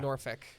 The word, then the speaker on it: Norfolk: I I always say Norfolk. I say like Norfick.